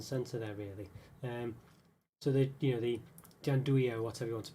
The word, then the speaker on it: gianduja: So the gianduja or whatever you want to pronounce it. Gianduja, I think, is the way you pronounce it actually.